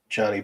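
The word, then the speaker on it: Jhony: it Johnny Britto Johnny I'm pretty sure it's Johnny Johnny it's just it's spelled j-h-o-n-y so I call him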